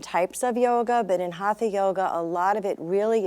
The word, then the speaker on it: Hatha: And you practice a form of yoga known as Hatha Yoga, am I pronouncing that right?